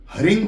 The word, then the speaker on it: ह्रीं: अब किसी जगह पर हरिंग बोलते हैं और कोई हरिम बोलता है, तो इसमें संशय मत लाना, दोनों एक ही हैं।